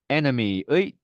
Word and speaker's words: enemy: enemy의 두 번째 이는 네, 슈아 발음이죠.